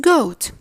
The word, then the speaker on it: goat: I guess you read it as goat. Where is the A? You didn't pronounce it. Do you know why? Simple. The famous English rule says when two vowels go in a walk, the first one makes the talk.